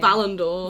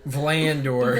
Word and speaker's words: Valandor: Valandor. Valandor. Like Valiant, Valandor. I've been saying that. Yeah, Scott's been... Well, you said, like, I just said- Vanaldor at one point. Vlandor.